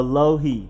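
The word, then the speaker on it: Alohi: Gilman as I expected it's not a Louise or a Louie it is a low-heat Gilman a lo he Gilman then you have Ohio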